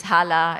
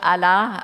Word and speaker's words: Hala: first name which is Hala in a country where you don't pronounce the h i was always asked the question where you're coming from and then when you're called Allah all kinds of assumptions